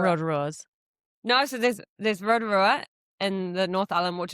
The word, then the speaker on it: Rotorua: No, so there's Rotorua in the North Island, which is actually pronounced Rotorua, and then there's one down the South Island called Lake Rotorua.